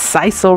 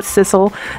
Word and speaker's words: sisal: last video you guys it's sisal rope not sisal so I'm correcting it now sisal sisal rope I'm gonna wrap it